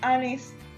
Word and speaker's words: honest: Pues la palabra honest se escribe con una H. Es verdad, pero la pronunciación empieza con una E, pues es una vocal.